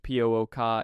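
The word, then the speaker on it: Púca: Paifa are shape-shifting trickster spirits from Irish folklore, pronounced Pooka in Irish Gaelic, representing one of the most morally ambiguous creatures in Celtic supernatural tradition.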